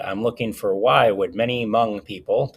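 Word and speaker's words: Hmong: And I'm looking for why would M people, this H is silent here, why would M people come to Minnesota from a refugee camp?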